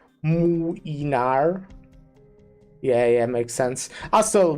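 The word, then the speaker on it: Młynar: The little L with the line through it is pronounced like a U, not an L. Muinar, but it's as 2 syllables. Muinar.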